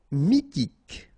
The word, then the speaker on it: mythique: Mythique. Remember, Q-U at the end, K, okay, and then Y is pronounced like I. Mi, H is not pronounced. T, K. Mythique.